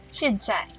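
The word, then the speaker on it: 现在: 现在，现声调第四声，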